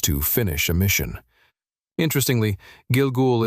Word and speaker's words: Gilgul: Interestingly, Gilgoul is pronounced very similarly to Google in Hebrew.